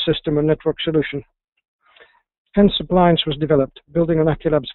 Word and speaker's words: ApplianX: with an x but you've probably caught on by now as i've been pronouncing it appliance so it is the